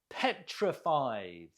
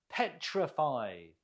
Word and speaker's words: petrified: Petrified. Note the stress on the first syllable. Can you repeat? Petrified.